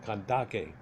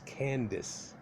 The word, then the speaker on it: Kandake: Yeah, it's Candace. Oh, it was spelled with a K and can't figure it out. Duh. Candace, Kandake.